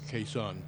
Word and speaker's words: Khe Sanh: Vietnamese speakers among you that I pronounce k like a northerner because that's the way I language I studied Greg pronounces it like a southerner kesan tell me about your